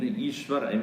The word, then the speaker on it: Ishwar: You know, in the southern part of India, in Ishwar, my name is Ishwarananda, right? So they write in southern part Eashwar, then only Ishwar. It should be pronouncing as E.